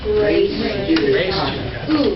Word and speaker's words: res judicata: Am I pronouncing that correctly? Res judicata.